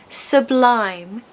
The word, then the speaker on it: sublime: Again, two syllables. Second syllable is stressed. So, sublime.